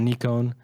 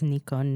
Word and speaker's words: Nikon: My favorite, though, is that he says Nikon now. Yeah. So the Japanese, they officially say that you can say Nikon, or you can say Nikon. And technically, the Japanese syllables should be pronounced Nikon.